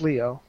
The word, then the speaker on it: Lio: Think about Leonardo. Okay, Leo. But it's spelled L-I-O. But that's how WWE Leo. That's the Spanish way. Lio. No, think of the Spanish way. In Spanish, that's Leo.